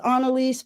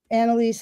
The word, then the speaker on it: Anelise: Um well, my mom says Anaise, but people just say Anelise. Donnaise, you know, as the as the spirit moves them and that's totally fine with me.